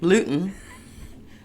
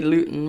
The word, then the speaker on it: Luton: Luton. Yeah. My mum said I say Luton right. Okay. Mrs. Gluten? Ellis? Blossom. Let's just call her Blossom. Let's call her Blossom. Yeah. Yeah, if Luton you're listening, with she's gluten.